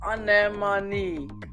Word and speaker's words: anemone: And please note that it's pronounced anemone.